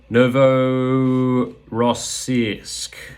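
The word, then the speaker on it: Novorossiysk: place and I'm going to go for the pronunciation Novo rossisk there you go and I managed to pronounce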